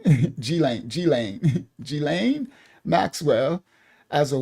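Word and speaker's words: Ghislaine: She has identified Gilain Maxwell. Thank you Maya. She taught me how to say the name. Gilain. Gilane.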